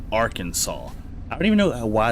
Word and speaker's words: Arkansas: But no, that's that's Birmingham Ham just like R Kansas. No, Arkansas.